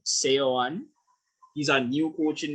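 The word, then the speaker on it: Seoane: Gerard or CEO one it's hard to pronounce s-e-o-a-n-e so that's Gerardo sayon he's our new coach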